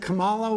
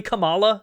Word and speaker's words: Kamala: Camala was uh the Sam can't even say her name right. It's not just reactionaries. She shoe head doesn't say her name right. Shuan head says Camala. Why can't no one say Kabala Harris's name right? Did a Mandela effect into a universe where her name is actually Kamala?